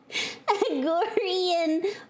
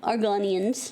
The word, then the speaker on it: Argonians: Agorian big breast. It's hot garbage. But it's also Argonians. I'm sorry, I was pronouncing them wrong. Argonians. got links to all my videos, especially the banned ones.